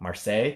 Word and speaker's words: Marseille: I don't actually know how to pronounce that. Marseille.